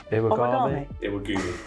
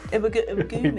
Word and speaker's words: Iwagumi: Iwagami. Iwagumi. I said it wrong, sorry.